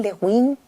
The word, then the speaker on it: Le Guin: No sé si se pronuncia Le Guin, Le Guin. Depende, pero es Le Guin, Le Guin, Úrsula K. Le Guin.